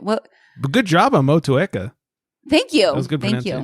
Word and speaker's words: Motueka: But good job on Motueka. Thank you. That was good Thank you.